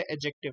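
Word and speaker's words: adjective: तो यहाँ पे नंबर वन है नाउन फ्रेज, नंबर टू है एडजेक्टिव। ये एडजेक्टिव्स होते हैं, ठीक है, एडजेक्टिव नहीं होता। एडजेक्टिव जो आप बोलते हो गलत बोलते हो, क्योंकि यहाँ पे डी साइलेंट है, ठीक है।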